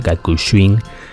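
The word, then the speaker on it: Gakushuin: de filosofía en la Universidad Gakushin, así se pronuncia, Gakushin, en Tokio.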